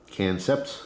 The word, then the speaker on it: Kancept: logo here is for cancer knives and again that's spelled k-a-n-c-e-p-t canceps it's a play on concept all right see